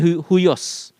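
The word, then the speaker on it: υἱός: Spellingnya bacanya huios.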